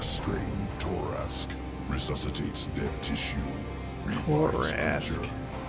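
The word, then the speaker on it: Torrasque: Torask. That's how you say it.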